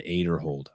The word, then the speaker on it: Aderhold: And then I tell Brian, I'm like, hey, dude, I got Ezra Aderhold.